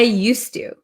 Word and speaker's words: used to: use use or use but uh there is actually a d here okay used to used to it's just uh difficult